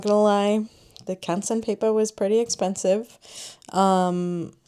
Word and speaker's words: Canson: I got the name wrong. I think I said something else, but it's Canson.